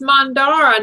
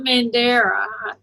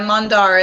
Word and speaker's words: Mandara: It's Mandara, not Mandera. That was It's okay. It's a It's a common mistake, but yeah, Mandara. It's more of a rounded A.